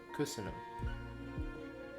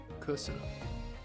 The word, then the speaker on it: köszönöm: Köszönöm. Oh. Köszönöm. Okay. Köszönöm. And there's an accent on the first syllable. There's accent on the following two. And higher pitched. Köszönöm.